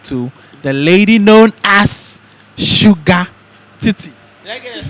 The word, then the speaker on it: Shugga Titi: Stick and stay while we talk to the lady known as Shugga Titi. Did I get the pronunciation right? Yeah. Shugga Titi.